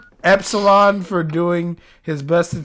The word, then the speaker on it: Epsilon: Solon, not Espion. Espeon's a fucking Pokemon. Fuck! It's spelled Epsilon, bro. Epsilon for doing his best to take He is care.